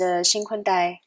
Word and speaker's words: XinKun Dai: So my full Chinese name is XinKun Dai, XinKun Dai.